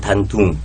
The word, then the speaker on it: 단둥: 우리 발음으로 단동이요? 단동이고 중국식 발음은 단둥.